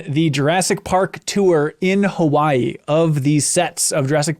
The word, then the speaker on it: Hawaii: really that's right uh the W in uh Hawaiian if it's in the middle of a word it's pronounced like a V fun fact I learned